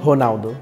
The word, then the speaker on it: Ronaldo: Italy we say Ronaldo it's fun cuz you don't pronounce the r you're honalo so why don't why